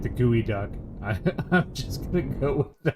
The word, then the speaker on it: geoduck: Okay, well we'll have to get with Stan and see how he pronounces it. I like the Gooey Duck.